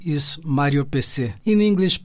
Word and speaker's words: Mário PC: my staging name is mario peci in english pronunciation mario pc it's not a personal computer pc it is